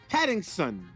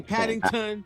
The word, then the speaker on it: Pattinson: Pattinson. Correct? Yes, Some people Pattinson. say Paddington. Not Yeah, some people say Paddington. Not Patterson. Yeah, and some people say Yeah, Patterson. Pattinson. And some people say Pattinson.